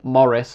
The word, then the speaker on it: Maurice: Like Justinian trying to reconquer the West, and then Emperor Maurice, or Morris as I've also heard it pronounced, getting so close to permanent friendship with the Persians and everything just falling apart in about 602.